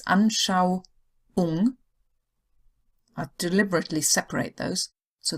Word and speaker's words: Anschauung: So it's not a U, long U sound. It's not Anschauung. You couldn't even say it. Or Trauung. It's Anschauung.